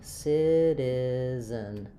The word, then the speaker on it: citizen: Um, so even though we have an e n spelling here, it's really more of an I sound at the end of that word, an unstressed reduced vowel.